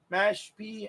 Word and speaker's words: Mashpee: Mashpee, that's how you pronounce it, Mashpee.